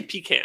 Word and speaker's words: pecan: Pecan versus pecan. Oh, yeah. I say pecan. Highly debated. Yeah. It is here. It's pronounced pecan.